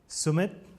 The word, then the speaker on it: Sumit: Sumit, not Summit with a single M.